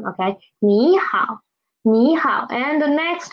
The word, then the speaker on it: 你好: Okay, please pay attention to this 你好 because there are two third tones together, third tone syllables together. So we will change the first third tone into second tone. Okay, 你好，你好。